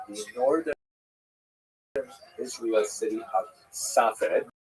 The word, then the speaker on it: Safed: northern Israel city of Safed, pronounced in Hebrew Tzfat or Sfas.